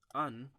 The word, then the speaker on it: an: An is like, we should notice that an is not like English, which would pronounce as an, but in Chinese do not pronounce as n. We pronounce actually like German. For example, Danke, the an sound.